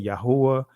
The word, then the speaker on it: Yahweh: Some of you guys would say Yahuwah. Some of you guys would say Yahweh.